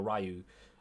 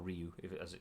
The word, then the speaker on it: Ryu: just use Ken or Rio or Ryu I think it's actually pronounced and Crouch and